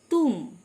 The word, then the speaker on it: tomb: তুম, TOMB, correct pronunciation is tomb মানে সমাধি।